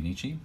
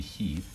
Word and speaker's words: 日: Now, so Nichi by itself, not Frederick. This is going to be much sunnier than Frederick Nichi. So by itself it'll be Nichi, and then in compounds it'll be he.